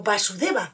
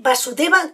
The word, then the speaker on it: Vasudeva: Y con el tiempo, en vez de Vasudeva, con ese acento en la A, ya todo el mundo lo conocía como Krishna.